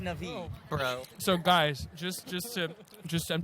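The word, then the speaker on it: Na'vi: And it's pronounced Navi, bro.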